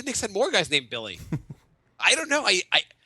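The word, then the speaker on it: Willy: no it's Billy it's Billy you know it's pronounced Billy it's it's spelled Willie but apparently it's pronounced Billy well I'm not doing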